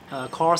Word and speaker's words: QoR: QoR, that's pronounced as QoR.